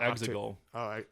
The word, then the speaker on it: Exegol: I'm going to mispronounce this island for the eternity. Yeah, Exegol.